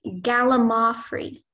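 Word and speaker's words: gallimaufry: jumble or medley of things hodgepodge am I pronouncing it correctly it's Gala moffrey Gallimore free can I have um may I have the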